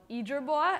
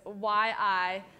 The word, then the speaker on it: Yizhibo: So for example, there's one that I was streaming on called Yizhibo, and I can spell that for you. It's Y-I-Z-H-I-B-O, Yizhibo.